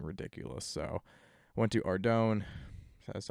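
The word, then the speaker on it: Ardougne: So I went to Ardone, that's how you pronounce it, and I'm just killing guard dogs right now.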